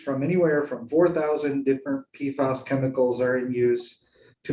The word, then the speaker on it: PFAS: So PFAS, pronounced PFAS, is a class of chemicals known as per and polyfluorinated alkyl substances.